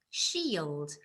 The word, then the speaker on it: shield: so we've got the it should looks like it should be an e sound but actually um it's it's got the spelling ie so it's about slightly differently so shield what do